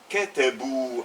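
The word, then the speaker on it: كتبوا: Il au pluriel, hum, katabu. Attention, le alif ne se prononce pas.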